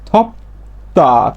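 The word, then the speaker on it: 덥다: তেমনি ভাবে প ধ্বনির পাইছি বাচ্চিমে, তারপরে পাইছি কি দ্বিগুত, তাহলে দ্বিগুতের উচ্চারণটা হবে কি ত, দ্বিগুতের উচ্চারণ ত, তাহলে এর উচ্চারণ হবে কি থপ্তা, থপ্তা, থপ্তা মানে গরম।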